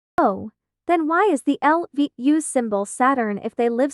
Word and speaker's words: LVU: of our eight heroes I'm not sure why this stupid voice thingy pronounces it as lavu instead of l v u oh actually I can